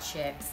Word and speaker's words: Chics: chicks on Instagram so there's no Kan and chicks it's ch hi I CS it's like Chic but Southerners we we pronounce chick or Chic chick so it's kind of a play on word give it to us